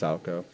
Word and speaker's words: Salchow: Boom, couple swipes of Salco. I know it looks like Salchow, but it's pronounced Salco.